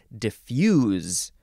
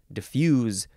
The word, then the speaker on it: diffuse: time it is pronounced diffuse diffuse with a z sound because this is a verb from The 14th Century